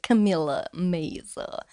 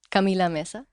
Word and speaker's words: Camila Meza: thanks for having me do people call you meza in english camila meza sometimes i get camilla mesa no it's camila mesa if somebody calls you